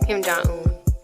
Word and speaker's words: Kim Jong-un: Kim Jong-un? Yeah, Kim Jong-un.